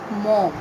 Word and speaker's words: Maugham: Okay, so please make sure while you pronounce the name of the writer, it is Maugham.